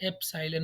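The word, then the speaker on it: epsilon: इसको हम प्रोनाउंस करते हैं एप्साइलन, अगर आपने नाम सुना हो, एप्साइलन।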